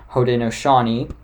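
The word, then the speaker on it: Haudenosaunee: their actual real name the real name is pronounced hoden noani and the six nations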